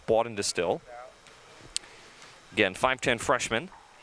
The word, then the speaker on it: Bawden-Distill: That's 4 syllables if you're counting. Yes, Bawden-Distill. I'm pretty sure I'm pronouncing that the right way.